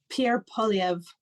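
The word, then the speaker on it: Pierre Poilievre: Pierre Poliev, I believe is how you pronounce it.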